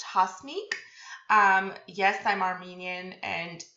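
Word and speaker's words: Hasmik: have mentioned this before my name is pronounced hosmic um yes i'm armenian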